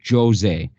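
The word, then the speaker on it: José: that he's Brazilian which means it's Portuguese which means it's pronounced Jose there's a whole thread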